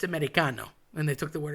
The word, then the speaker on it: Americano: These are all things that um when referring to Americans, or I'll say non-Italians, they tend to say American. It's just Americano.